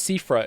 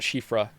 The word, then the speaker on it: Cifra: I still said uh it's cifra isn't it not shifra it's cifra I think I still